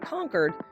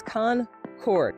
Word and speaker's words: Concord: By the way, for those of you Californians, it's not Concord, it's Concord. There you go. Now you have the pronunciation of it.